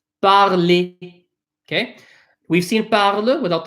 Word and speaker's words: parler: Anything that ends in an ER, that ER is pronounced as, think about it, how do we say it? Et. Parler.